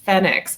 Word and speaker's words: FENIX: I'll that remand was the pronunciation of the product is Penix and we have actually been informed by that from our Italian manufacturing partners and it's really exciting